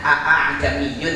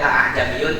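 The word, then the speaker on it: ءَأَعْجَمِيٌّ: Itu garib tulisannya aa jamiyun tapi bacanya enggak boleh aa jamiyun untuk riwayat yang kita gunakan. Aa jamiyun meringankan Hamzah yang kedua.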